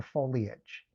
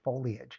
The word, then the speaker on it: foliage: Kind of annoys me when people say foliage because when you say someone's married, you talk about marriage. It's spelled the same way. I a ge, right? I say foliage just like I say marriage.